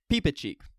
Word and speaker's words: Reepicheep: okay we'll go ahead and say cheek okay peepa cheek we are all waiting to cut off our